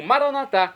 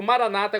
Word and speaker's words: maranatá: E agora eu clamo maranatá, como dizemos nós católicos, ou maranata, como dizem nossos irmãos separados das comunidades evangélicas ou protestantes. Não importa pronúncia, o significado, é o mesmo.